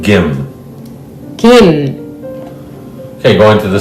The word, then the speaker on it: Kim: Now, it's written with a K in English, but in Korean, it's closer to a G. It's more like Gim.